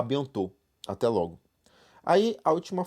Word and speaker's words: bientôt: Então esse T a gente não fala, é a bientôt.